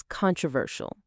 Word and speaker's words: controversial: Let's break it down into its four parts, its syllables. Con, tro, ver, shaw. The strongest part of the word, the part we stress is ver.